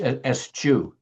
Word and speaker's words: eschew: It is for this reason that Maharaj asked the people to eschew, how do you say that word? Eschew? The desire to understand, It's eschew.